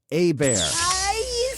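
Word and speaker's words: Hebert: spelled Herbert it's h-e-b-e-r-t it's Louisiana Cajun French a bear yeah oh great it's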